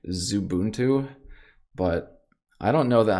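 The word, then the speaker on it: Xubuntu: uh evidently it's not x ubuntu i was told the other day that it's it's like zubuntu but i don't know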